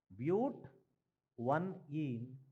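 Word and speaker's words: but-1-ene: and 2, this butene, actual name we have to pronounce is but. One ene. But 1 ene, or you can say 1 butene.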